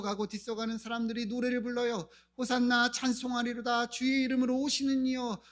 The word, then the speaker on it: 호산나: 여러분 호산나 많이 들어보셨죠? 호산나 호산나 우리 찬양할 때도 많이 하죠. 호산나가 무슨 뜻인지 아십니까? 엘라로 보면 원래는 호시 안나 이렇게 읽어야 되는데 이제 호산나라고 읽죠.이 의미는요.